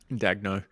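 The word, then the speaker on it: Daigneault: Mark Dag, how do you spell how you pronounce his last name? Dagno.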